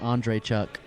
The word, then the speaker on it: Andreychuk: I always love how you said his name, Andre Chuck. That is how you say it.